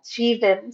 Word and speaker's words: Jeevan: Oh yeah, Jeevan. Thanks for Jeevan asking. Okay, I'm glad I asked. Thank you. Hmm. Yep. I have a friend named Jovan, and I was thinking, yeah, it's pronounced differently.